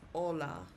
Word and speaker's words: hola: The letter H is silent.